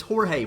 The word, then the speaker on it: Jorge: relevant maybe that's why and then the rest of these we have hor hor a Jorge Jorge for Jorge okay so it's not George it's Jorge for the players weekend